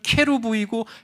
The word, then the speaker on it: 케루브: 여기서 그룹이라고 번역된 히브리어는 케루브이고 헬라어는 케루빔인데 이 케룹이라고 하는 이 히브리어를 한국식으로 발음하다 보니까 그룹이 된 거예요.